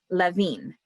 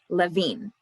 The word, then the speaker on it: Lewin: last name is pronounced levine the w in german has a v sound levine so he decided to